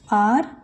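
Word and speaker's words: hour: और हैज़ a vowel sound word such as आर and honest man. ये एच से start होते हैं पर इनका प्रोनाउंसिएशन कैसे होता है? आर and honest man.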